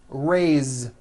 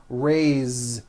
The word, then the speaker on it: raise: let's do some verbs raise meaning like to raise my hand now this word is a bit unusual because even though it is spelled with an s it's pronounced with a voiced Z raise so we say I